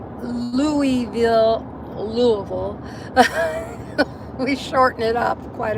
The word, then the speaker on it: Louisville: Yeah, Louisville, yeah. We just got to swallow the I and the S and just say it like it's, yeah. Jan spelled it Luville.